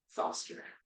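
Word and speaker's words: Thosder: I'm sorry you should play ball um you could call me Foster like Foster the theaters how do you spell it t-h-o-s-d-e-r I might be the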